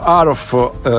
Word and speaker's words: Haruf: Kent Aruff, scritto H-A-R-U-F, per al di là della pronuncia, NN editore, Le nostre